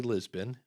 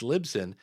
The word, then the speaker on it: Libsyn: towards lip sync um it's actually Lisbon actually I said it wrong again that's the funny part about it these are the two you hear Lisbon and Lip Sync It's libsyn in fact on their new